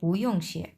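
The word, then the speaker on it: 不用谢: mutton ইয়ংও চানা mutton দুইটা পাশাপাশি বসছে সো উচ্চারণ তখন হয়ে যাবে পইংশি এটা আপনি জেনে গেলেন যে চাইনিজরা কি বলে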